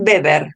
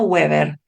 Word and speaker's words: Weber: Se dice beber, no weever. El video dijo Weber. La verdad que les puse este video porque me parece que sintetiza un montón, pero Weber no se dice, se dice beber porque es alemán.